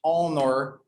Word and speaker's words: honor: have some an exception like an hour and honor it starts with a consonant but it's the